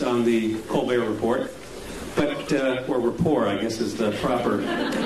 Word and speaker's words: Colbert Report: Tyson has been a frequent guest on the Colbert Report, or rapport, I guess is the proper pronunciation.